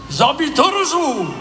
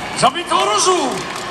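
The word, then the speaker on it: ザ・ビートルズ: So I said, well, how do they say it? They say, Zabitoruzu! Zabitoruzu! See, you thought you were just coming to a concert, you got a little bit of Japanese there.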